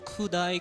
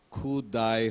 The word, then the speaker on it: ক্ষুধা: ক্ষুদায় হয়ে গেছে, কি হবে? ক্ষুধা। ধা, ধাটা আসতে হবে, এটা ঠিক রাখবে, ঠিক আছে?